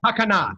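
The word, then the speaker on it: takkanah: The response was some highly respected rabbi who made a Tanekah. Am I pronouncing it correctly? Takana, that's right, Takana.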